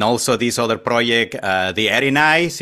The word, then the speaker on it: Erinyes: this other project the Erinyes if I am pronouncing that correctly I Erinyes yeah I think think it's referring to the Greek mythology and I think it's Erinyes I okay all right thank